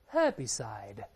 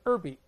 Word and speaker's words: herbicide: 当然，美国人也能读成 herbicide，在美式 herbicide 都行，这 h 发音都对，都可以。在英联邦国家，h 必须发音读成 herbicide。哎，这个是英式，美式读成 herby 或者 erby 开头都可以。